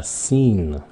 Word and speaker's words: seen: Còn cái dạng hiện tại hoàn thành là verb số 3 đó là seen. Cái đó phát âm là seen, đừng có xin nha, không phải là xin, nó là seen, see, seen.